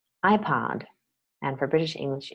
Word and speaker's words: iPod: Okay, an iPod is an object, and the stress is on the first syllable, iPod.